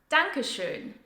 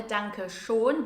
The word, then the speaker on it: Dankeschön: Dankeschön is pronounced with the German Ö sound, so it's not a Danke schon, which I hear very often, as a lot of people pronounce it that way. It's Danke schön.